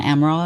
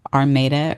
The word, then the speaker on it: Amaral: One of them was John Amaral, and I said his name correctly at the beginning, and then towards the ending, I reference him as well, and I say his name incorrectly. I think I say something like John Armada or something like that.